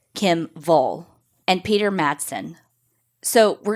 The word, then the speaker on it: Wall: Kim Wall, who the English pronunciation would be Wall, but she's Swedish.